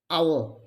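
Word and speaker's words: hour: the seventh one is h our we don't produce the sound of h our h is silent here next one honest h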